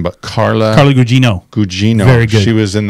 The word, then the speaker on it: Gugino: Gugino.